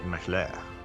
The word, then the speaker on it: Mashle: I think it's French. It's pronounced Mashle. Mashle. Mashle.